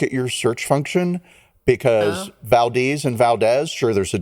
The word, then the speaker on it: Valdez: Valdes right okay and it is pronounced Valdes but it is spelled Valdez right okay and I